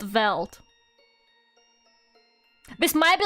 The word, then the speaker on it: veldt: Veld. V-E-L-D-T. How do you fucking say this shit? I fucking hate it here. Veld. It's pronounced Veld. No, it's not the valet.